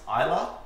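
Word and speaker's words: Islay: region that the optimal came from is actually pronounced ila so I obviously have not been watching by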